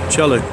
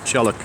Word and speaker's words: Tjalk: Tjalk, T-J-L-T-A-L-J-K, Tjalk, like pronounce like that, Tjalk. And this is actually, I believe, this is what's called a Zeetjalk. Z meaning sea Tjalk, and so they can go out to sea.